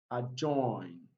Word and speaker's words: adjoin: Now from the pronunciation of that word, you discover that letter D is not pronounced silent, handkerchief. Sandwich, sandwich. Adjacent, adjacent. Adjoin, and adjust.